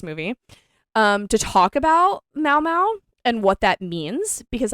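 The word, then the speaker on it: Mau Mau: that I might not know them okay so Mao Mao which is spelled m-a-u space m-a-u refers to Mao Mao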